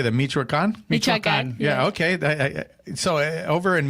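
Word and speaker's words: Michoacán: Michoacan. Yeah, okay. So over in Michoacan, is it popular soccer?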